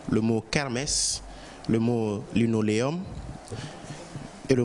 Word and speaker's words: kermesse: Alors, c'est le mot kermesse, et kermesse s'écrit K-E-R-M-E-2-S-E. Kermesse, K-E-R-M-E-2-S-E. Merci.